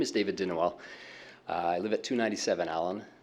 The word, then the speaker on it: Dinowell: Dinowell, if I've said your name correctly, congratulate me, and if I said it wrong, correct me.